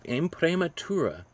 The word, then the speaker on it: imprimatura: Okay, can you try to pronounce that word? Imprimatura? Yeah, Imprimatura.